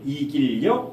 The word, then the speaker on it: 이길여: 원래는 걔지 여자인데 발음할 때 이길려 이길려.